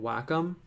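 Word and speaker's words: Wacom: Um, I use a tablet by a company called Whackom. W A C O M. Some people pronounce that name differently, but that's how I say it.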